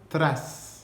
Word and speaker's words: tras: Si vous voulez vous entraîner à le faire, prononcez le mot tras, faites T-R-A en roulant le R.